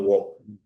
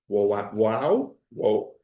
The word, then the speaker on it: Woaw: in Los Angeles, and also Woaw-- whoa-- Woaw Gallery in Hong Kong. It's spelled W-O-A-W.